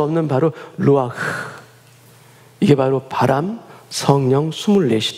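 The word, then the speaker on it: רוח: 도 동일한 단어를 같이 씁니다 이 단어는 바로 루아흐 라는 단어입니다 아직 강하게 부는 바람처럼 강하게 되시지 않고서는 발음할 수 없는 바로 루와 이게 바로 바람 성령 24시 다 라는 단어입니다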